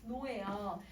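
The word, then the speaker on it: 종로: 이거 발음하면 어떻게 발음해야 돼요, 여러분? 종노예요.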